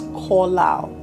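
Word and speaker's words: קלל: The first time it was used in Genesis is the Hebrew word kolal. It's spelled as Qallal, but it's pronounced as kolal.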